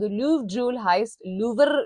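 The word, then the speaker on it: Louvre: लूवर लिखा जाता है लेकिन लूव आई बिलीव प्रोनाउंस किया जाता है इसको, एक बिल्कुल होंठ बाहर निकाल के, जो कि कोई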